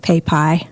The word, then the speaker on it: Papai: Um, it is probably commonly mispronounced very because it's spelled P A P A I and it sounds like pay pie.